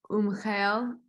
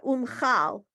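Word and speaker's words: ומחל: Avinu Malkeinu, Salah, Umchel, right? Umchel Lachol. I think it's how. Yeah, they're. I'm sorry, it's blurry. It's certainly not my fault. Yeah, umchal. It's umchal.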